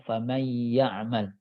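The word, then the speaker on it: فمن يعمل: Contoh dalam faman ya'mal. Ini paket cara bacanya adalah faman, ditahan dan dengung.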